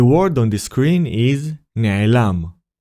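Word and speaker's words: נֶעֱלָם: The first letter is Nun and decorated with Segol, which is the Nikud sign from the previous lesson. It creates the syllable Ne. The second letter is Ain and decorated with Chataf Segol. It creates the syllable Ae. Lastly, we have the letters Lamed and Mem. The letter Lamed is decorated with Patach. Together, they create the syllable Lam.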